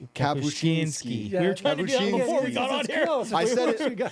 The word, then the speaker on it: Kapuscinski: Kabushinski before we got on here.